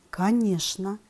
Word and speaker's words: конечно: ребята вы справились задание очень часто слова конечно нарочно скучно люди произносят счп хотя правильное произношение этих слов такое конечно нарочно скучно сейчас ребята